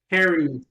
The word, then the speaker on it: Khari: But my guy, Harry, Yo, and I actually said it right this time.